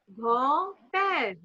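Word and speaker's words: grand-père: Ma'am, Grand as in gho, okay, gho, and father as in pair, gho, pair, okay, yeah, very nice, gho, pair, okay, excuse me, ma'am.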